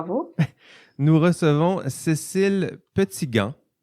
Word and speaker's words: Petitgand: Nous recevons Cécile Petitgand. On prononce comme ça, Cécile? Je ne vous ai pas demandé ça en pré-entrevue. C'est parfait. Très, très bien.